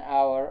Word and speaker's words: hour: It should be an, because h here is silent. An honest person. And you can say an hour also.